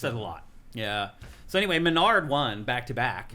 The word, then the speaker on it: MenaRD: So anyway, Menard won back to back. Mena RD. Is that how you say his name? I always call him Menard. Yeah, he's Mena RD.